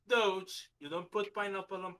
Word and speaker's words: Doge: working dodge coins not doggy doge i've never i've never heard it pronounced before sorry okay okay there are there are two simple rules in this life you pronounce it doge you don't put pineapple